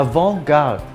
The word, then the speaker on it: avant-garde: evoke out avant-garde a avant-garde in French the last letter in most words is silent in this case the T and the e I like in Frank